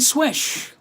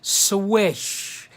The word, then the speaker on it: Slysz: Spartacus wishbone by Marcin swish even though it's spelled s ly as Z it's actually pronounced swish s WI s H so let's take a